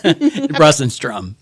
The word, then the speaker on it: Russenstrom: How do you pronounce it? many renditions of it, so you can't hurt my feelings. Brus Instrom. Brus Instrom.